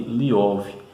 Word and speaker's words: Лев: O sufixo "ev" no russo pode ser pronunciado como Iev ou Iov, e Tolstói preferia ser chamado de Liov.